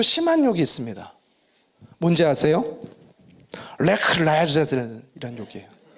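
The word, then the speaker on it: לך לעזאזל: 레크 라야자젤 이란 욕이에요. 레크 라야자젤. 원래 히브리 발음이 가래 끄는 발음이에요.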